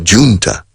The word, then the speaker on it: junta: The junta, en inglés decimos junta, pronunciamos la J a lo inglés.